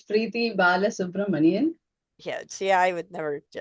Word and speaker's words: Balasubramanian: She's going to pronounce her last name for us. Yeah, it's Preethi Balasubramanian.